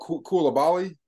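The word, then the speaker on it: Coulibaly: but um one that maybe um is below Kula Bali is how you pronounce it so um he was he was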